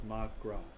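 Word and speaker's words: mo ghrá: we're going come on mogra i'm sure i mispronounced that irish for my love one dialect would pronounce it as magra okay i wasn't too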